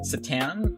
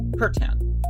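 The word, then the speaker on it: C'tan: It looks like it's called the Satan, but apparently it's pronounced Curtan.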